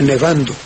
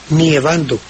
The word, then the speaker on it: nevando: Como en el gerundio no cae, sí, porque cae en la A de nevando, ¿verdad? Entonces, lógicamente, no se puede decir nievando.